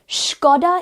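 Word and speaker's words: Škoda: Skoda is the correct pronunciation of this car brand.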